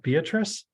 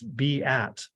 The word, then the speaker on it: Beatrice: pronunciation of our name a lot of people would look at Beatrice and say well isn't that Beatrice well it's be at and so now we're